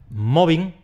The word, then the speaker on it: mobbing: “acosar”, pero si dices “mobbing”, que sea con o y no con u como dicen algunos por ahí.